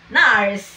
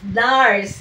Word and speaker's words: nars: Nurse nars. Nars Nars. Yeah. Nurse is Nars. N R S.